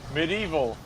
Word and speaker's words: medieval: She's someone that is like medieval, or medieval, whatever. You're adding too many syllables. You're adding too Yeah, I many know. syllables. Yeah. Medieval. Medieval. Is it that simple?